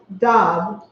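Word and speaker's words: דב: In Hebrew, bear is pronounced dab.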